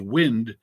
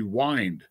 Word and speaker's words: wind: as wind it's actually wind if you look at all the words in that second stanza it's like a clock and you pull the chain on the clock to make the clock work i think perhaps of